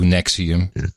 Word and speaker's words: NXIVM: So NXIVM, so it would be Nex, I, instead of the V, a U, Nexium.